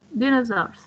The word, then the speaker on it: dinosaurs: Dinosaurs. Can you pronounce it? Yes, dinosaurs. So the first syllable is the stressed one.